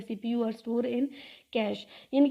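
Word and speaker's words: cache: फिर उन दो टाइप्स के अलावा मेमोरी की जो थर्ड टाइप है वो है कैशे मेमोरी। कैशे मेमोरी हम किस तरह प्रोनाउंस करते हैं, कैश।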